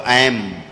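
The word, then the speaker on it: ऐं: ए है, ए की बिंदी लगी, अंग की मात्रा ऊपर रखी है बिंदी, तो ऐम, ऐम बोलेंगे, ऐम, है ना।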